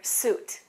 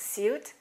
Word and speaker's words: suit: And that's similar to the word suit. In British English, it's suit. In American English, it's what? Suit.